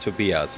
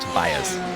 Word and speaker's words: Tobias: Yeah, at least the first name, which is actually pronounced Tobias and not Tobias, by the way.